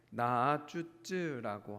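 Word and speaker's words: נעצוץ: 그래서 이 상수리나무가 히브리어로 좀 발음이 어려운데 나아쭈쯔라고 하는, 약간 마치 무슨 중국어 같기도 한 나아쭈쯔라고 부른다고 합니다.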